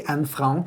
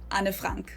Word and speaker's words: Anne Frank: So instead of it just being one syllable and it's two syllables an and then the last name just has the German a vowel anafrank.